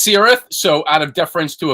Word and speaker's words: Cirith: uh in the chat is it a hard sea sound or is it a soft sea sound are we kir or sir so they say it's sirth so out of deference